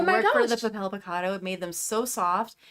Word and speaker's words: Papel Picado: if you guys don't know what we're talking about, so Alexis crocheted some Papel Picado. I always say it wrong. It's okay, Papel Picado. I had to look it up like 800 times.